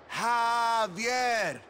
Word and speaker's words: Javier: It's pronounced like an H. Javier.